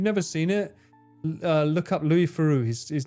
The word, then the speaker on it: Louis Theroux: If you've never seen it, look up Louis Theroux. His name is pronounced a bit weird.